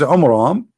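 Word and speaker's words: Amram: the father of Moses which is AMRAAM not Omar on em wrong wrong pronouncation a wrong name I mean have you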